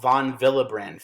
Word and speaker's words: von Willebrand: to this protein called von Willebrand factor. It's a W, but it's pronounced with a V.